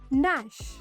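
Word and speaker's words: gnash: silent when they are फॉललोड बाय एन एट the beginning of the word जमा शब्दचा शुरुआतीला जी किवा के येत असेल और तचा इमीडिएट नंत एन येत असेल तेवा जी आ के सा उच्चार करचा नहीं for example knee knock नैश rule number 10 pronounce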